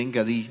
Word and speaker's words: Engadi: Otras versiones ponen la tilde en la I, entonces se lee Engadi. Aquí está con el acento en la G con la A, o sea que es una palabra grave.